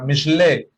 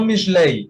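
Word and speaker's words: משלי: Incluso en el libro de Proverbios, en hebreo se dice mishle, ¿sí? Mishle, no mishlei. Mishlei es una forma hebrea o se escribe de esa manera, pero esa mayormente es una pronunciación secundaria o la pronunciación ashkenazí del hebreo.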